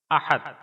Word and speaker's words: احد: سے تعلق رکھتا ہے۔ تلفظ اور اعراب: احد، الف پر زبر، ہا پر زبر، دال پر جزم۔ معنی: اپنی ذات و